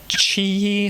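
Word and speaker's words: QiYi: cube this is a chi i think is the way to pronounce it q-i-y-i i've seen various other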